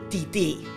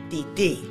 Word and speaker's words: titi: come, my mother's sister, titi. You know, some people think I'm saying titties, but those are pronounced tetas. Titties in Spanish are tetas, and auntie is titi, unless they're your titi's tetas, and then please don't go there.